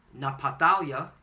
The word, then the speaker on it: Naphtali: And she called his name Naphtali, or in the Hebrew is Napatalia, which means my wrestling. Yeah, kind of. Okay? The Yah is my, or Naphtali is wrestling, and the Yah at the end makes it my wrestling.